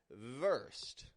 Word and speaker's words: versed: you use it and the other word that we're seeing here in this minimal pair after worst is is versed with the V versed if somebody is well